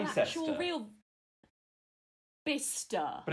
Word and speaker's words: Bicester: an actual real Bista. But it's spelt Bicester.